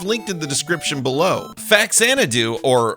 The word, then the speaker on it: Faxanadu: Faxanadu, or "Fuzzanadu", however you prefer to pronounce it, is a single player action adventure platformer brought to us by the fine folks at Hudson Soft.